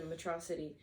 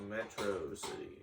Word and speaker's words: Metro City: realize how much bigger the city was the Metro City and how different everything looked from the outside it's pronounced Metro City well Megaman calls it metrocity the pronunciation is